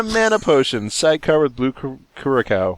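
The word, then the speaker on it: Curaçao: A health potion, gin and tonic, splash of Grand Marnier, splash of bitters, and a mana potion, sidecar with blue curacao. How do you pronounce that?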